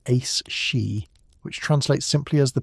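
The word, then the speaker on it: aos sí: They were the ali, pronounced roughly as ace she, which translates simply as the people of the mounds.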